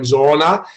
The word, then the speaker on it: Zoona: And it's Zoona is like a Zambian word that means it's real. The Zambians would actually pronounce it like Zoona.